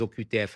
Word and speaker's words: OQTF: On prononce des OCUTF en France, mais les maires qui